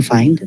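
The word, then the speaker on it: phi: the Greek letter F PH I okay not pi not p okay fi I you the spelling ishi but again um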